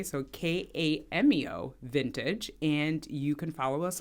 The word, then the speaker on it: Kameo Vintage: Yes, so you can go to Kameo Vintage, and that's spelled with a K, so Kameo Vintage, and you can follow us on TikTok, also Kameo Vintage, but it's Kameo_vintage.